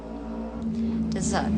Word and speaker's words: dessert: Dessert ya.